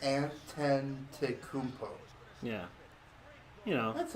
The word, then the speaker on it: Antetokounmpo: Yeah, it's Antetokounmpo. Antetokounmpo. Antetokounmpo. Like 5 syllables. Antetokounmpo.